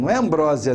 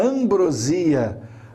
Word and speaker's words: ambrosia: doce dos deuses né a ambrosia ambrose não é a ambrosia a pronúncia do doce e aqueles seres mitológicos